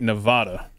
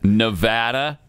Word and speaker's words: Nevada: big one you love it when people say Nevada I hate oh yeah I do it's Nevada Nevada is the way you pronounce that right oh look at that he's